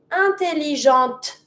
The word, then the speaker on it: intelligente: So, that's why you have the difference between intelligent intelligente. I just stop at my t sound, I'm not going to pronounce my feminine e, but I'm going to pronounce everything but the e.